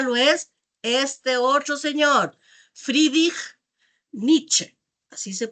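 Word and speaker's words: Friedrich Nietzsche: Este otro señor, Fridich Nietzsche, así se pronuncia más o menos el nombre, eh en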